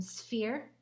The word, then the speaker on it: sphere: you take a look you'll notice that the sound in sphere is actually a pH okay next solid shape